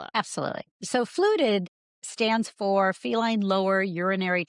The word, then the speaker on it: FLUTD: So fluted stands for feline lower urinary tract disease. So that's an acronym and we just pronounce it as flu fluted.